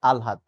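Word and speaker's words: আহ্লাদ: আল্লাদ করে লাভ নেই এটা কিন্তু আল্লাদ না এটা হচ্ছে আলহাদ ঠিক আছে মনে যেন থাকে এটা দরকার নাই।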